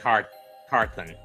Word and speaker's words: Carthon: Maurice Carthan in 86. Or Carthon, or however you pronounce it. And he was also there again in 90. It was Maurice Carthen.